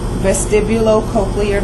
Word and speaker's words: vestibulocochlear: Just pronounce each syllable. Vestibulocochlear.